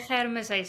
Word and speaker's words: Germishuys: Yes, Simoné Germishuys, yeah. So it's perfect. Awesome. Some people pronounce they do not get the surname, good. They always say Geldenhuys or something, but yeah.